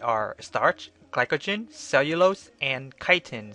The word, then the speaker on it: chitin: The four polysaccharides are starch, glycogen, cellulose, and chitin, sometimes pronounced kitten.